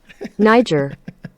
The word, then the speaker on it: Niger: Niger. Excellent. Now we've got our pronunciation.